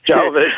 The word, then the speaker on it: Jovovich: I'm not sure how to pronounce her last name. Jovovich, thank you.